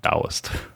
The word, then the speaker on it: Taoist: And we know for a fact that that's pronounced Taoist. Taoist?